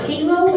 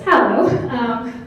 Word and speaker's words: Hallow: He was calling it Halo at first, because he didn't know how to pronounce it, and no one knew how to pronounce it, and then we figured out that it's Hallow.